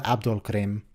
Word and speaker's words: Abdul Karim: I'm doing it as Siddiq pronounced it on that show when he actually said it out loud.